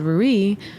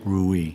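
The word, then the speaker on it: Reuilly: you look at a small little place called rui Ru makes a spell it R e u i l l y ruie Ru in France in France in the lir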